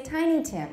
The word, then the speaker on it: Tiny Tim: tim that's right and do we say tiny tim or tiny tin is it a compound or not no so how do we say it tiny tim that's right but the actress kept